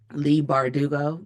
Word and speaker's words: Leigh Bardugo: Um, Leigh Bardugo.